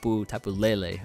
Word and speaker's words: Tapu Lele: previous live, I'm gonna go ahead and say Tapu Lele.